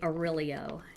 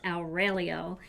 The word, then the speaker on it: Aurelio: I used to say Aurelio, and he said, that is not how you say your name. I don't want to hear you say it like that ever again. And he said, it's Aurelio. So I'm trying to say it right in honor of my father, who never liked the more English pronunciation of that name.